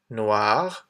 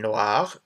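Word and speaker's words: noire: Noir and noir, again, same pronunciation, but we add an extra E at the end, and this is black.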